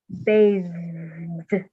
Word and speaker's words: bathed: And then end it with a D sound.